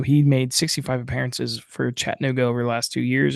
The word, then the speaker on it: Chattanooga: And he said the proper proper way to pronounce Chattanooga is Chattanooga is uh how he says people from Chattanooga say the name the city name.